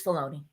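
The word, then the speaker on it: Filoni: good so that's cool I always think I pronounced that right it's felony isn't it it's felony it's felony say I always say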